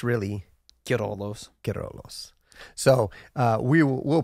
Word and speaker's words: Queirolo: and lasagna yeah um so yeah uh he pronounced it what' you say cor coros like a Toyota Kos yeah well I always